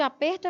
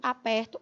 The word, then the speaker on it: aperto: apertado Me deu um aperto um arrocho Olha aí e aperto do verbo apertar então vejam que o Ed aperto é fechado o é de aperto é aberto a gente consegue verificar